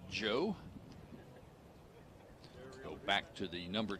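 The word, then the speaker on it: João: sophomore from Lisbon Portugal name is spelled Joao but he pronounces it Joe go back to the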